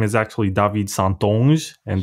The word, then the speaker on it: St Onge: his name is actually david santon and that's how you pronounce it in french yes i'm saying get